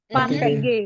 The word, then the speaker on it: fatigué: What is the pronunciation of this word? you're so fatigued Fatigué.